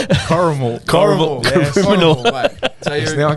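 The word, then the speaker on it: Corrimal: Coramal.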